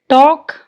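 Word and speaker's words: talk: टॉक, L silent.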